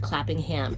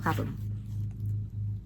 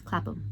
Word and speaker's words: Clapham: The way you said that sounded like clapping ham. It's clapping. Clapham. Clapham? It's not, you don't pronounce the H like that. Why are people weird about that? It's Clapham.